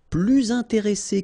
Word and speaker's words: plus intéressés: Nous sommes plus intéressés que vous. Okay? And in that case, well, you make this little link, little liaison between the two, so you hear a little bit this S.